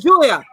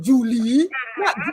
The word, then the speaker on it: Julia: julie and it was julia julia she was like julia not julie because it smelled like julie right but it was julia well it had like